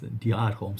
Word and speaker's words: Dior Homme: 08, that gangster, my fragrance guru, he says Dior Homme Sport, Dior Homme Sport. If you see that guy pronouncing some of the brands, you just feel inspired.